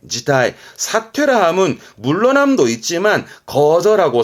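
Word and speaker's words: 辞退: 발음은 지타이, 지타이.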